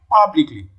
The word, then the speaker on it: publicly: syllable okay b publicly publicly where does it fall on the first syllable power okay see particle